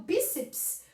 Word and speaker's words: bíceps: Então, bíceps, o seps fica junto. O seps fica junto. Porque todo mundo se apoia no E, que é vogal. Não existe sílaba sem vogal. Acentuação precisa também de ter conhecimentos prévios. Então, não existe essa sílaba aqui separada. Bíceps, senão seria proparoxítono, tá?